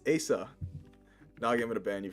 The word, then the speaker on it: Asa: I included the pronunciation on the screen because I'm tired of hearing Asa, Isa. It's like this. People are making stuff up as they go. My name is Asa. Pronounced Asa.